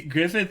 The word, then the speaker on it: Griffith: syllables. It's Griffith.